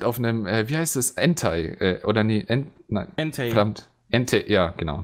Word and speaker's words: Entei: Es wird E-N-T-E-I geschrieben. Das heißt, ganz genau ausgesprochen heißt es sogar Entei. Ja, aber wir sind nicht im Englischen, wir sind im Deutschen. Und im Deutschen wird es Entei ausgesprochen. So wird es zumindest gelesen und so habe ich es gelernt.